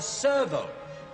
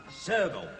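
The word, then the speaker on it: serval: what this is called This is called a Servo that's right it's spelled s e r v a l Servo oh look at that beautiful thing isn't it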